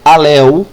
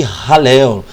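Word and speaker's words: Hallel: l e e aí você pode pronunciar alu fica sinta-se à vontade tá gente aqui não tô aqui para querer puxar a orelha instruir ou mostrar alguma coisa para ninguém não o meu desejo é só ajudar só somar com vocês Tá então H quem pronuncie ralel tá H quem diga também ralel os salmos de ralel ou ralu ou alu fica à vontade Professor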